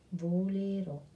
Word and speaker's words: volerò: Il futuro invece appartiene al domani, all'azione che non è successa e quindi sarà io volerò. Accento sulla O.